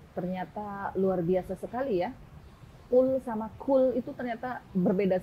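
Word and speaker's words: قل: Al Ikhlas Yang Pertama full Katakanlah tapi kalau kita salah geser dikejar pengucapannya bukan full tapi cool menggunakan kaff cool huwallahu Ahad Makanlah dialah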